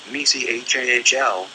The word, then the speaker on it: Michael: Say, at my right hand, and then vibrate, Michael, pronounced Mechahl. The CH is pronounced softly, as in the name of the musical composer Bach.